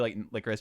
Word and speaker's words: Lycoris: So it's followed by these two, Lycoris, Chisato, and Takina, I think. You're right. And Takina. Takina, yeah. Bro, my pronunciation is shit.